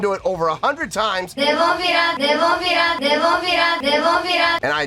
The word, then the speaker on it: Nemophila: Nemophila, Nemophila, Nemophila, Nemophila. And I now know that I'm pronouncing it exactly like they are.